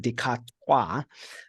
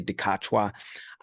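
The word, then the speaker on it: Dikgacoi: on the katwa so his name is pronounced technically in the African language I think it's even Decatur um but uh most South Africans say dekachua unfortunately he's not a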